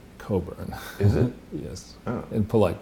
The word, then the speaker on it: Cockburn: be modeled on but this is Cockburn it's pronounced Coburn is it yes in polite company sorry sorry